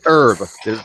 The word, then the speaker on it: herb: There's an H in there, Steve. It says H is silent. It's an herb. You don't pronounce the H in herb.